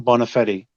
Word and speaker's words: Bonafede: My last name, Bonafede.